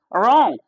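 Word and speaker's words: wrong: है right, are आई टी, तो डब्लू एक साइलेंट वर्ड होता है, पढ़ने में होता है। रॉन्ग, रॉन्ग आर ओ एन जी, रॉन्ग में, जबकि लिखाता है डब्ल्यू आर ओ एन G, okay.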